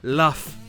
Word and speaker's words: laugh: Il y a juste 2 exceptions où le GH se prononce F. Le mot britannique draft et le plus connu, le verbe laugh.